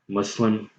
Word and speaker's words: Muslim: just as a reminder Muslim is adopted in the English language or at least the American English language as one of its various pronunciations of the word spelled mus l IM ok this is just